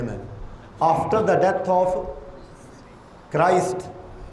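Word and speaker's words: Christ: After the death of کرائسٹ، اچھا کرسٹ بھی کہتے ہیں، کرسٹ سے پھر آگے کرسچن ہے، لیکن اس کا صحیح تلفظ جو ہے وہ میں بول رہا ہوں کرائسٹ.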